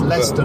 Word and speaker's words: Leicester: Shyam Morris Esther Shire Lester it's like there's lots of places like that Lester like Leicester Square it's Lester not my sensible Worcestershire